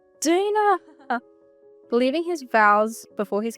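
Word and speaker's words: Daena: God, it's pronounced Dana.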